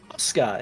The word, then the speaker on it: Yosar: I will be playing Oscar it's spelled yosar but the Y is silent if um if nepo